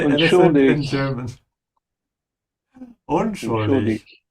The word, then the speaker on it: unschuldig: Unschuldig. Emphasize the prefix un.